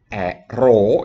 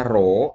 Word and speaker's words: rho: limitnya ada sama dengan rho ini dibacanya rho ya kan Ini dibaca rho R itu nulisnya tuh